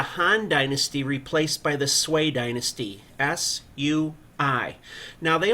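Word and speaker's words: Sui: to see the Han Dynasty replaced by the sway Dynasty Su UI now they only lasted for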